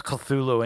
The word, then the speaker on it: Cthulhu: The first syllable of Cthulhu is pronounced gutturally and very thickly. The U is not unlike Cthulhu in sound. Hence, the H represents the guttural thick. Yeah, that's Cthulhu, and he's about to devour H.P.